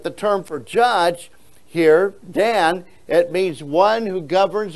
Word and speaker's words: Dan: L or judge of God and so uh Dan here is how you pronounce this for judge and what does it